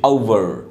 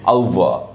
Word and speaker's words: over: এখানে লেখা আছে over, এর শুদ্ধ উচ্চারণ বা ট্রান্সক্রিপশন হচ্ছে over, এর আমেরিকান উচ্চারণ হচ্ছে over, আরটা উচ্চারণ হবে, আর ব্রিটিশ উচ্চারণ হচ্ছে over, আরটা উচ্চারণ হবে না।